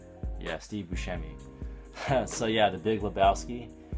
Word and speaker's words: Buscemi: Jeff Bridges and John Goodman, also starring Steve Buscemi. Hopefully that's how you say his name. Yeah, Steve Buscemi.